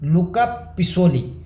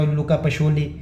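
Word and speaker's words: Luca Pacioli: अब देखो इसको अलग-अलग प्रोनाउंस करते हैं यार। एक लुका पिसोली कहते हैं। एक को मैंने देखा लुका पिशोली इधर कोई और ही प्रोनाउंस कर रहा है। एआई कुछ और ही बोल रहा है। ठीक है? तो मैं इसको लुका पिकोली ही बोलूंगा जितना मुझे लग रहा है बोलना।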